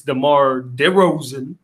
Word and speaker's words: DeMar DeRozan: and by the way you also said tomorrow's the Mar Rosen's name wrong it's demar derozan he didn't put the day in there anyway that doesn't it